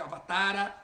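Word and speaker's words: अवतार: não a a a na pronúncia dessas línguas o a longo final ele é omitido então você tem em vez de rama você fala Ram em vez de avatara você fala Avatar em vez de bagan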